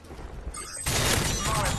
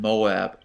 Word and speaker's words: MOAB: MOAB ready for your go.